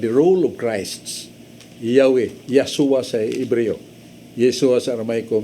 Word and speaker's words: Yeshua: Yeshua sa Hebro. Yeshua sa Aramaic. Kanang Yeshua, makapantay ka na is, first syllable is Y-A-H, Yah. That is derived from Yahweh.